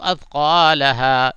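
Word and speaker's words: أثقالها: واخرجت الارض اثقالها، یہ اثقا کے الف وغیرہ کو ذرا بھی نہیں کھینچیں گے، بس مد طبعی.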